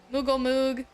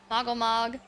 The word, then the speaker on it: Moggle Mog: I've been saying his name wrong. Moogle Moog, Moggle Mog.